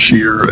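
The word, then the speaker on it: Schier: spec is I think it's pronounced sheer SE R the hydromechanical grease interceptors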